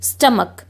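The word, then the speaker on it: stomach: एंड हो रहा है लेकिन उस सी एच का साउंड जो है वो च की जगह क आ रहा है, हम उसको क से प्रोनाउंस कर रहे हैं, जैसे स्टमक। सो स्टमक, मोनार्क, ठीक है।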